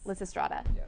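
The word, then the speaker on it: Lysistrata: on campus what is it called I can't pronounce it Liss strata yes Liss Strada and what is it about well LZ Strada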